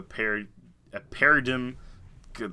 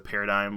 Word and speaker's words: paradigm: And we're writing a movie right at the turn of a paradigm. I hate that word so much, the paradigm, whatever, because it's got a G in it, so I never say it right.